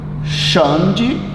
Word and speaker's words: Xande: Xande, Ribeiro.